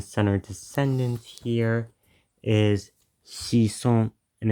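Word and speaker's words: 子孫: this word meaning son or descendant here is shison, and it's written like that.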